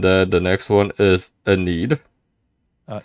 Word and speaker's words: Enid: mm-hmm okay and then the next one is a need uh Enid Enid Enid yep uh the third one is Lawton Oklahoma